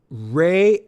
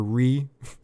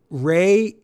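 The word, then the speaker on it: Rhea: section for correcting me for mispronouncing Ray's name for pretty much the run of talking about this show. I think I called her Ree.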